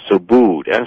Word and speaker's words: Subud: are the author called effect which is a so booed su b UD that's how that's pronounced as well I mean so su su